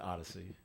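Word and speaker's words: Audacy: I think that's how they spell it it's kind of like audacious but wow but they pronounce it Odyssey so so um they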